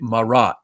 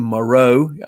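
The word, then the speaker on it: Marot: some people pronounced it marat m-a-r-o-t it's french named moreau a lot of french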